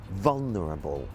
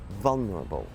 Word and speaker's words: vulnerable: For example, the word vulnerable. So it's vul, vulnerable. And the emphasis is on the first syllable, vulnerable.